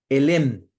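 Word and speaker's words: עלם: no no se dice me pillaste se dice elem mundo se dice olam y oculto se dice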